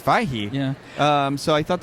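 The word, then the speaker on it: Feige: over to Kevin um I have always said Kevin phage and I learned today that it's fahi yeah um so I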